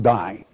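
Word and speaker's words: δεῖ: it's really a little three-letter greek word d-e-i pronounced die comes from the prime of diol and it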